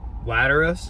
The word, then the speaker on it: Lateralus: And I'm going to say this name wrong. I apologize. Lateralus or Lateralus? How do you say that, John? Lateralus.